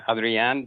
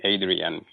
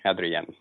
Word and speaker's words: Adrian: Yes, my name is Adrian. That's the way it's pronounced in Spanish. Though on this side of the border, most people call me Adrian. But I appreciate that you calling me Adrian.